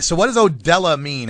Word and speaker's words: Odela: I got to make sure I pronounce that right, because I grew up with Mexican kids, and that says Odele to me. What's up with that? No. It's definitely Odela Threadz for Headz, man.